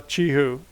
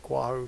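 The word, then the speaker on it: Qihoo: got to do with a stock like uh chi who Chi who is how you pronounce it instead of guahu chi who okay and U the other thing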